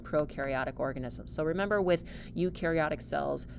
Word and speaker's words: eukaryotic: So remember, with eukaryotic cells, euc rhymes with nuke, they have a nucleus, they have organelles, they are way more complex than our unicellular prokaryotes.